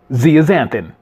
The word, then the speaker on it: zeaxanthin: Previously, on words that I could not even pronounce, the correct pronunciation of the word is zeaxanthin.